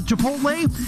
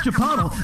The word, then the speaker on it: chipotle: i could strangle it and throttle when it mispronounced the chipotle that's chipotle never mind all the time i'm spending in